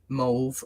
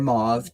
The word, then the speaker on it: mauve: The other card that I got is mauve or mauve, depending on how you want to pronounce it.